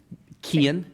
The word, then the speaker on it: Cian: Beagle or Kian O'Sullivan, Was that how you pronounce his name? Kian, yeah, Kian. yeah, All right. C-I-A-N, there you go, and you're welcome.